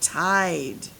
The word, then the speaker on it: tide: It's the word tide, right? All right, so I'm going to write the word tide starting with the T.